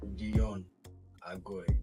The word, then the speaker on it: Deyon Agoi: Let me pronounce it properly for you to understand. DEYON AGOI.